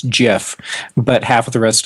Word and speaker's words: GIF: rest of the world still says no it's GIF what is he no why if why if it's unresolved why if it's GIF would you spell it g if why wouldn't you do J if uh because that's how